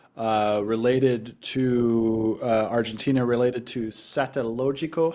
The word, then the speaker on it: Satellogic: to Argentina, related to Satellogico. How do you pronounce Satellogico? Satellogic. Satellogic. We can do that.